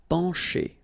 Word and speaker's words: pencher: Okay, remember, E-N nasal, pen, pencher. Okay, C and H together will produce the sound sh.